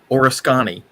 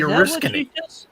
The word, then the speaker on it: Oriskany: yeah the aircraft carrier horoscani it was how the guy was pronouncing it oh okay it was a major aircraft carrier and worked for NASA on occasion it was the Oriskany he called it the orusconi Oriskany okay yeah uh yeah